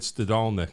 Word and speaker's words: Stadalnik: anyway uh dog owner David stadalnik perfectly pronounced first time in my life amen Lithuanian yeah you